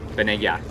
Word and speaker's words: Vanegas: We have Brigitte Vanegas. Vanegas. I think it's pronounced.